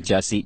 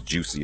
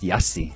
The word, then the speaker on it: Jussie: to go through like people thinking it was Juicy and all this foolishness. So, you know, well, God bless the children. Yeah, and here in South Africa, your name would probably be pronounced Jussie.